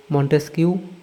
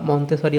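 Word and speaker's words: Montesquieu: দার্শনিকদের অবদান রুসুতে এটা হবে ভলতেয়ার লক ও মন্টেস্কিউ বা মন্তেসারি অনেকে উচ্চারণ করে দার্শনিক মতবাদ ও ফরাস বিপ্লব এখানে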